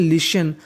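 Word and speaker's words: listen: The king जो राजा था, became हो गया, हैप्पी प्रसन्न, आफ्टर बाद में, एल आई एस टी एन इसे पढ़ते हैं लिशन, और आई एन जी इंग लिसनिंग, ये सुनकर, हिम यानी उसको सुनकर राजा बहुत खुश हो गया।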